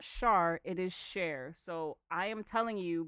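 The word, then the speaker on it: Charr: It's C H A R R, but it's pronounced share.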